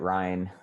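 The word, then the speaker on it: Ryne: human rights commission yeah it's r-y-n-e i think he pronounces it ryan um okay s-h-a-d-d-a-y if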